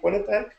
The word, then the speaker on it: Quinnipiac: Quinnipiac.